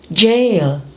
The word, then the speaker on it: gaol: Surprisingly, this has the same pronunciation as, okay, read it. Jail.